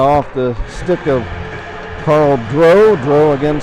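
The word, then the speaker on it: Dreux: the stick of carl dro dro again spell d-r-e-u-x i hope i'm pronouncing that correctly it's either drew or dro and i'm gonna say dro but it might be drew if i'm pronouncing it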